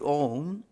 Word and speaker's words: Om: So, the three sounds that constitute Om are A, U and Ma. A is pronounced with open, it's an open vowel. You have to keep your mouth open to pronounce A. U is pronounced with half closed or half open mouth. And Ma is pronounced with mouth totally closed.